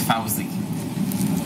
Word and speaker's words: Fozzie: Don't mind him, Fuzzy. He's just like that. It's Fousey. Yeah, I know. Fuzzy. Like the bear.